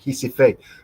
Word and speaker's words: Recife: Recife, They don't call it Recife, they call it Recife, because their R is pronounced with like a H.